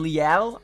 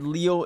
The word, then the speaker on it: Leal: maybe tough day today de Marvin Leal I think is how you say his name I said said Leo in one video it's I heard it's not Leo uh demarvin Leo made